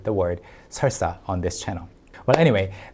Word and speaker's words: 설사: It needs some practice, like 설사. And you know what? I think it's the first time you're hearing me say the word 설사 on this channel.